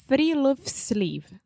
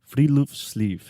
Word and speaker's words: Friluftsliv: Alexia, do you want to take a guess at how to pronounce this? We already know because we were practicing. So give it to me. It's Friluftsliv. Friluftsliv.